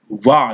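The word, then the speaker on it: ו: Va, they say it's ba. All right, but it's me, I pronounce it wa.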